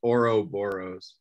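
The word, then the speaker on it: Ouroboros: creature one more time Oro boros I say it as oroboros but some people say it as orob boros okay I don't know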